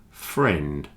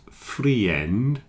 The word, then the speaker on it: friend: has one syllable friend ignore the I in this one pretend the I is not there and say friend not freend friend just one syllable